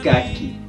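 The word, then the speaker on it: kaki: Cómo se dice la barbilla es caqui k a k i kq tal como se pronuncia se escribe caqui ahora repasemos todo lo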